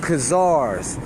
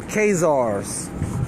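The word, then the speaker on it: Khazars: testing your DNA against kazars or kaze ours depending on how you pronounce it or which are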